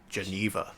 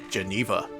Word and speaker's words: Geneva: Thank you for pronouncing it like the pinball game. If you played the Frankenstein pinball game from, I think it was Sega, one of the call-outs is just the creature saying, Geneva.